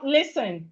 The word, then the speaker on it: listen: So we have listen. Please, it's not listening. It's not listening. It's listen. Listen. Listen. Because the T in this word is silent.